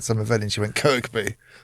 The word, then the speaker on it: Kirkby: Kirkby she'd tell you was it Kirkby analyst was saying Kirby Kirby Kirby she actually had a go at an analyst saying someone said someone said her name wrong at some event and she went Kirkby.